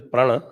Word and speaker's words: Prana: Actually, it is Prana. He keeps pronouncing it Prana.